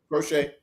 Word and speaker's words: Crochet: I believe I'm pronouncing that right. Crochet.